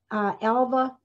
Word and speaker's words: Alva: And finally, she married a man named Alva, A-L-V-A, I think that's how you pronounce it, Lowther, who was 20 years older than she was.